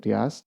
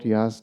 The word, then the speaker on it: YaST: I pronounce it YaST, which is basically a graphical user interface to help edit system settings.